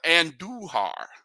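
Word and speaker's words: Andújar: They got a long ball from Miguel Andujar.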